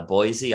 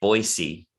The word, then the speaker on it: Boise: play it in uh boise ida uh as they they say boise uh everybody else is boise but in in that city they pronounce it boise we played like in